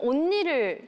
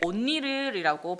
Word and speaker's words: 언니: 평소에 좀 언니를 좋아하는 편인가? 언니를 할 때 언니를 온니르이라고 발음하잖아요.